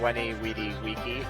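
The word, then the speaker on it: veni, vidi, vici: know what's funny is if you actually say it is the way the the Latin the Roman people said it it doesn't sound as good no cuz it pronounce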